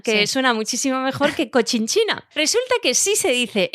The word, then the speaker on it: Cochinchina: Mira, no se dice Conchinchina, ¿Cómo se dice? se dice Cochinchina.